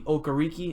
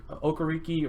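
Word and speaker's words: Okereke: a colts fan and he always murders me for pronouncing this guy's name but bobby okariki i believe is how you say it um he showed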